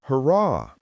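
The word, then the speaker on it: hurrah: What they yelled, I'd noticed again and again, was harrah. actually pronounced harrah.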